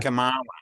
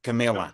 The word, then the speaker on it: Kamala: Kamala, not Camilla.